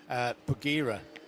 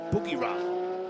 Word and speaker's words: Bagheera: I prefer Nick's pronunciation of the second Mercedes, Bagheera, pronounced Boogie-Ra. But it is like Bagheera, but no, it's off.